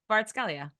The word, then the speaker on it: Kvaratskhelia: No, you have to say his name properly. Kvaratskhelia.